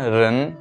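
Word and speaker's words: 人: তো এরপর দেখবো রেন, রেন এখানে আছে সেকেন্ড টোন। তো রেনটা একটু স্লাইটলি উপরের দিকে উচ্চারণটা হবে ফার্স্ট টোনের চাইতে, সেকেন্ড টোনটা একটু উপরের দিকে উচ্চারণ সেটা আমরা সবাই জানি।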